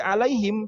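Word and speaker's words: عَلَيْهِمْ: Siratal ladzina an'amta alaihim. Nah itu mem, lagi-lagi alaihim, jangan terlalu kaku. Karena kalau terlalu kaku berarti sifatnya belum sempurna.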